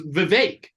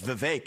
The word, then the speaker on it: Vivek: all right my name's Vivek rhymes with cake my name's Vivek it rhymes with cake it ain't about thee